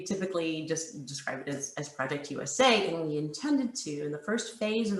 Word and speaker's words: Project US@: possible the approach that we're taking oh it's pronounced project usa not project u.s act i know there's a little bit of confusion